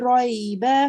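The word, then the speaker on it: ريب: Zalikal kitabu La raiba fi. la raiba fi Hudal lil muttaqin. lil muttaqin. Well done. Now with ra, remember it is when you pronounce it, you round your mouth a bit.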